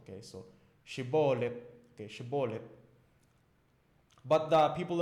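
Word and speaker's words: Shibboleth: Than the standard Hebrew dialect, and they pronounce it as sibolet. Sibolet.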